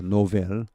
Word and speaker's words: Nobel: 그러면 노벨 프라이즈 이렇게 이 발음은 노벨입니다. 노벨. 이게 뭔가 철자가 잘못됐네요. Nobel이죠. novel 이것은 소설, 새로운 이런 말입니다. 이게 철자가 잘못됐죠. 자, 이것은 Nobel, 노벨입니다. 노벨, N-O-B, 할 때 B입니다.